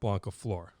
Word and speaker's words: Blancaflor: Blancaflor.